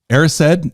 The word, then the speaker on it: Erised: Erised, is that how you say it?